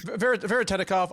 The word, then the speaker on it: Veretennikov: Veretennikov.